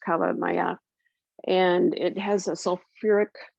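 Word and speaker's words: kala namak: i use this it's black salt um properly pronounced cava maya and it has a sulfuric tendency to it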